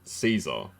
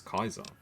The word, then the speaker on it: Caesar: would have destroyed us it's interesting how raham says it Caesar which is the not corre correct pronunciation F chalk says it as Kaiser interesting uh tell me